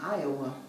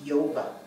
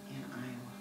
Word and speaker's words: Iowa: All he knew was his brothers were in Iowa. And when he looked at that word, it looked to him like it should be pronounced Yova.